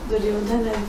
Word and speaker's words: Duryodhana: We just say but it's not A, it's Duryodhan as we say in Hindi. In Hindi, we say everything like this. Yes. The Hindi pronunciation is like this, but in Sanskrit it is incorrect. You have to say this. Duryodhana. But it's not A. The way this. It is not like this. Single. It is not this. Okay.